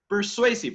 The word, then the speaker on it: persuasive: No olvidarán la V, la V en inglés es la V dentilabial. En español de España también, ¿no? Entonces, no la pronunciamos como la otra V con los dos labios, sino dientes con labio, ¿sí? Con los dientes de arriba con el labio de abajo.